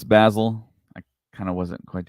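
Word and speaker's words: Bazil: U pretty far but uh this particular character Basel I guess has shorter teeth that b so yeah we find out the name it's basil I kind of wasn't quite sure how to pronounce it but yeah it is basil um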